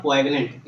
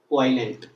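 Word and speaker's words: poignant: इट इज नॉट क्वाइगनेंट, इट इज क्वाइलेंट, क्वाइलेंट, क्वाइलेंट, ठीक है। जी यहाँ पे साइलेंट है, जी साइलेंट, ठीक है।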